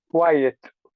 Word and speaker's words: quiet: you say number two quiet quiet you put that e in the to separate the two syllables quiet yeah quiet say